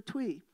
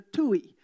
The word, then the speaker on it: tui: This is the tui, or the New Zealanders would say the tui. It's spelt the same way, but it's a coincidence.